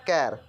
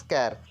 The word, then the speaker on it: char: data type is char care it is pronounced as care and the format for